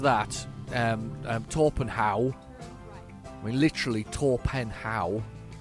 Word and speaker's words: Torpenhow: Went past the place the other day, and it looks like what's it called, Torpenhow, but the locals pronounce it Trepenna.